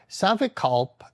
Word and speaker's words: Savikalp: Savikalp, and the pa, the extra a, isn't quite how you pronounce it in Sanskrit, so Savikalp Samadhi, with seed or with distinctions, but again the word vikalp means imagination.